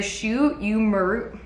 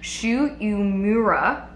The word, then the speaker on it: Shu Uemura: So the product I'm talking about is the Shu Uemura. I feel like I never pronounce this brand right. Shu Uemura Art of Hair, and this is the Ashita Supreme Hair Scrub.